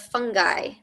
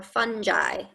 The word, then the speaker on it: fungi: Okay, fungi, mushrooms, truffles, yeast, and molds are all types of fungi or fungi. Either pronunciation is fine.